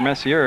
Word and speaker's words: Messier: But I had asked his dad, not this year, but last year, how you pronounce it, Messier or Messier, and he said he went with Messier.